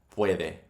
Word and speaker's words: puede: UE is pronounced like we. Puede, we, puede, puede.